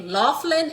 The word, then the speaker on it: Laughlin: Let me spell that out for y'all. Okay. L A U G H L I N. Okay. Laughlin and Associates.